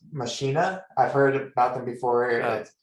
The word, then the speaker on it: machina: vox machina but yes i think it's actually pronounced machina i've heard about them before okay i think